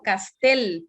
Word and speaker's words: Castel: dijeron bien otros no es juan pablo castel porque es una palabra aguda si bien es cierto no tiene tilde porque puede ser que las ayudas se tildan cuando terminan en n s o vocal i castell termine en l entonces no está tildado pero si es agudo